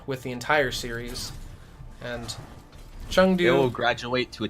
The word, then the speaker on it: Chengdu: So they both just Chung and Han, like they're just the same syllable. Hangzhou and Chengdu, like it's more of a ah sound.